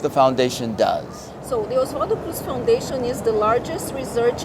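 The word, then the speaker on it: Oswaldo Cruz: Beatriz Grinsztejn, who is the director of the Oswald Cruz Foundation. So I'm going to have you help me out. Did I pronounce that correctly, or why don't you give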